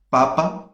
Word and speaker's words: papa: Temos papa, né, que seria batata, né, em português. Papa. E temos a palavra papá, que seria pai, certo? Então, papa não tem acento. E papá tem acento na última sílaba.